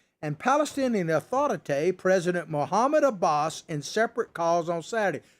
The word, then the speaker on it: Abbas: not uh mr um abbas it rhymes with a boss is hamas so you